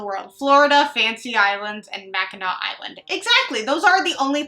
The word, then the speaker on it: Mackinac Island: can see up here I had a Google pronunciate how to say it Mackinac Island Mackinac Island and so I had uh I